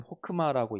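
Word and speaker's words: חכמה: 먼저 지혜를 살펴볼 텐데 지혜를 이제 원어 히브리어로 보면 이제 호크마, 맨 아래에 있는 호크마라고 읽습니다.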